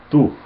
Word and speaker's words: tú: It's not two, it's tú. We pronounce tú in Spanish, and with the, remember the tilde, and but it's not necessary.